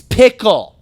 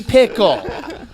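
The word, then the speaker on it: Pikul: And Wait, it's pronounced Pikel? and so Yeah. Oh, shit. Well, I have been 15 years later. I have been correcting people for a long time. Like, it's pickle, okay? It's clearly pickle.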